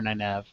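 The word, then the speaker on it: Nynaeve: me I'm I'm just I like Nev I don't like the pronunciation Neve and you know get over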